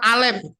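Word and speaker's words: אלף: Berikutnya ada gambar A, ini kepala lembu jantan, Alef. Ya, ini hanya tidak keluar diucapkan, ini silent. Jadi berek begitu ya.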